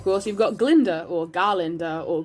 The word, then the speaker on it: Glinda: personality-wise then of course you've got glinda or garlander or glinda the guy is silent god i love glenda on first glance